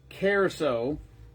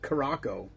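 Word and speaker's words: Curaçao: Ron Blue carouso. Remember, I used to think it was called Caracco until I heard somebody pronounce it properly.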